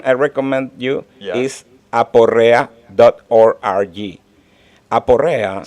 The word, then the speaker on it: Aporrea: Aporrea. Spell it.